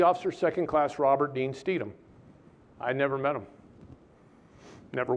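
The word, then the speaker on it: Stethem: to ship the USS steedom it's not spelled like it's pronounced it's s-t-e-t-h-e-m it was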